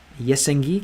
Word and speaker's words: СНГ: SNG читается как Yesengi, как это?